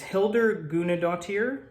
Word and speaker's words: Hildur Guðnadóttir: her name here she's Icelandic her name is Hilda guna dear I think that's how you pronounce it I watched a video earlier her